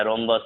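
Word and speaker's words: rhombus: आर के just बाद अगर एच होगा तो एच साइलेंट होगा। राइनो हो गया, रोम्बस हो गया, ठीक है।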